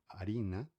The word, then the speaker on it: harina: Arina, quando tem H é mudo, tá? O som é mudo, não se fala arina, tá?